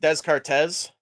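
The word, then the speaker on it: Descartes: Dardis kind of thing I believe it's pronounced deszcz that reminds me of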